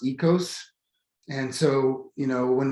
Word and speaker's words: oikos: word being eco or oikos and it's it looks like oikos but it's pronounced ecos and so you know